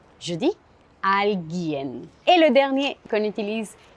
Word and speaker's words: alguien: Aussi dans le mot alguien, je ne prononce pas le U. Je ne dis pas alguien. Je dis alguien.